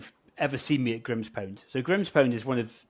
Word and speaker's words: Grimspound: Grimspound, is that how you pronounce it? Grimspound, yep.